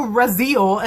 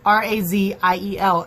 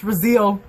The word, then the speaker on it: Raziel: like fingers so oh and then the angel razil is how Luke says it and I'm like great that's another word that I was pronouncing wrong the entire time because it's spelled r a z i e l and so I'm like Raziel like Castiel but